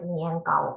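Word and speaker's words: 年糕: It pronounced in Chinese as niangao.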